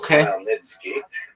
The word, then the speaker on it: Khmelnytsky: It's actually pronounced Khmelnytsky with a guttural at the beginning.